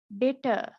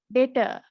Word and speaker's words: debtor: මේ මෙතන තියෙන B එක silent. හොඳට මතක තියාගන්න මේ B එක silent. සමහර ළමයි මේ debtor කියනවා. ඒක වැරදි හරි. B එක silent තියාගෙන තමයි අපි pronounce කරන්න ඕනේ.